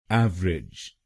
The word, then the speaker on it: average: तो बनेगा एवरेज, एवरेज। और ये ध्यान में रखिएगा कि हमको पहले शब्दांश पर यानी AVE पर जोर डालना है, एवरेज।